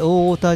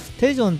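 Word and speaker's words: 대전: なこれそのま大田って読んなら多分ダメですもんねえオタじゃなくてさっき調べたんですけどねえそうテジョンだそうテジョンねテジョンですねテジョンとのゲーム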